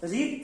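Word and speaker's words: read: अब मान लीजिए कि नहीं है, मैं पढ़ता था, तो आई होगा, रीड, रेड, प्रोनाउंसिएशन अलग होता है बट वर्ड मीनिंग तो सेम है।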